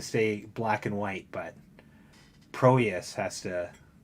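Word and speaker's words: Prohías: Bob Clark gets to stay black and white, but Proeus has to. I keep trying to pronounce that H.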